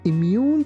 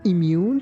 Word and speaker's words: immune: When someone is immune to a disease, they cannot be affected by it. Children usually get shots to make them immune to certain diseases.